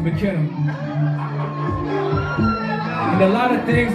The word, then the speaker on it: Miknna: For those that don't know, we go by the name of Miknna. That's how you pronounce it, Miknna.